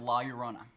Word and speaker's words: La Llorona: What's the pronunciation? - It is The Curse of La Llorona. - La Llorona - La Llorona, actually, guys, why don't you kill it.